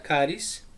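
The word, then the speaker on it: χάρις: si la palabra gracia viene del griego que dice chaves pero bueno se pronuncia cariz y significa gratis significa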